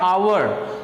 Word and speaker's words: hour: होता है औकात सामने यहां पर आता है आवर तो क्योंकि बिल अकाउंट है इसलिए हम यहां